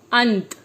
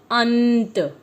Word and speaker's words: अंत: जब हम बोलते हैं तो न को अंक की बिंदी की तरीके से भी प्रयोग कर सकते हैं और ध्वनि के साथ हम इसका उच्चारण करेंगे और शब्द निकलेगा अंत।